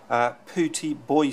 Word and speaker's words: Pooty Boy: This actually should be pronounced Pooty Boy Studio, so sorry about that, Pooty Boy.